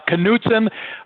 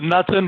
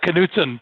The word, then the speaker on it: Knutsen: you know what usually people do get that pronunciation knutson everybody outside of the midwest pronounces it nothing but it really is uh knutson pleasure to be here uh keith uh thank